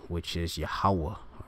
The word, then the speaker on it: Yahweh: All right, such as Jehovah and Yahweh and all of that. That's not the right pronunciation. All right, it's Yahweh, which means he is, he exists.